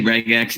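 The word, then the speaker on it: regex: also known as um some people call it ragex uh no one pronounces this you know no one goes around saying re so they say rag x even if they write it r e and if you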